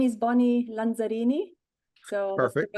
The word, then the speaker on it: Lanzarini: My name is Bonnie Lanzarini. So Perfect. that's the right way, of saying it, pronouncing it.